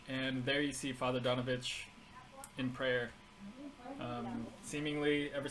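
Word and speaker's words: Donavich: and forth his his name is father dominic donovich donovich oh he's a i'm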